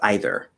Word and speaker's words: either: either okay so well there's two ways to pronounce that word one is either one is either um either to me sounds very educated like it's it's only